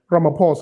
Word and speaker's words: Ramaphosa: And I see Vernon saying, oh, Ishmael is talking about I nearly pronounced his name in a terrible way. Ramaphosa.